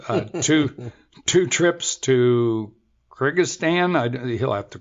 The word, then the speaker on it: Kyrgyzstan: morning well can you correct our my bad pronunciation the the two trips to how do you say that country Kyrgyzstan Kyrgyzstan I should have known man and the name